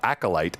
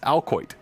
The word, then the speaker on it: acolyte: are said one was i read the word acolyte as alcoit i don't know why